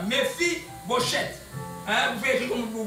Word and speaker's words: Mephibosheth: David dit, ne crains point, ses fils s'appelaient Mephibosheth. Prononcez-les comme ça. Mephibosheth.